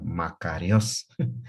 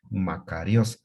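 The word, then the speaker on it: μακάριος: es la palabra feliz felices en griego se pronuncia makarios así como lo escucha usted makarios entonces está viviendo el nombre que estos conocemos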